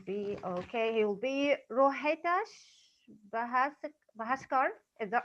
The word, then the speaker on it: Rohitash Bhaskar: It will be, okay, he will be Rohitash Bahaskar. Is that right? I'm pronouncing it right? Yeah, that's correct. It's Rohitash Bhaskar.